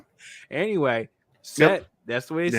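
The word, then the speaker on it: Cett: Anyway, set. That's the way to say it though. that that's it's it's spelled ce in the book but it's uh audiobook pronounces it set which I'm guessing that's I'm guessing because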